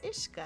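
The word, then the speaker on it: uisce: no what's her name nessa's imaginary friend that's ishka how's it pronounced there you go and that you know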